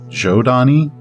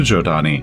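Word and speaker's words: Zhodani: i've heard it's pronounced jodani like with the j uh because long long long ago the ancients actually seeded many worlds with humans and they all evolved very differently and the giodani are psionic which is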